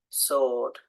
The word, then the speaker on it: sword: hear it guide guitar and the W sword answer okay so it's